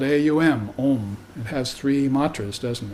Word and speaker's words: Aum: of Threes those are called pries the word is spelled AUM om it has three Matas doesn't it so right